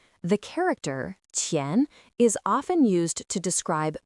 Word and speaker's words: 前: Its pronunciation is qián. The character qián is often used to describe position, both in space and in time.